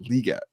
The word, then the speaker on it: Legette: Xavier Legette. I think it's actually pronounced Leggett.